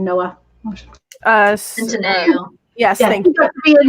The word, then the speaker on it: Centineo: What I'm hoping for of like do what they did with the last one of then like I can't pronounce his last name. Noah. Centineo.